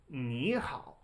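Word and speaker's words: 你好: Whenever you have 2 third tones in a row, they're still written this way, but you pronounce the first one as a second tone. Ni hao.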